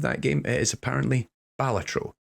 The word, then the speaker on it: Balatro: do actually ask my audience how do you pronounce the name of that game it is apparently balatro not balatro as I have been saying for far too